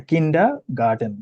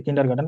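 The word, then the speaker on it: Kindergarten: হ্যাঁ, দেখি হ্যাঁ, কিন্ডা গার্ডেন। কিন্ডা গার্ডেন হচ্ছে, আমরা যে কিন্ডার গার্ডেন বলি না, এটাকে বলতেছে কিন্ডা গার্ডেন।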